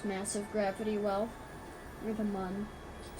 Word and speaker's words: Mun: Or the mun.